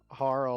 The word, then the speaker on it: Harle: important uh character here harl or harley depending on how you wanna pronounce it i think those are the two that i commonly hear yeah she seems to